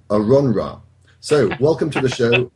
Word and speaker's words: AronRa: It has come to my attention that I have been pronouncing Aaron's name incorrectly for the last 3 years. His real name apparently is AronRa.